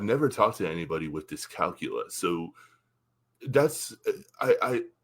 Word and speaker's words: dyscalculia: about dealing with the cerebral palsy and this dyscalculia.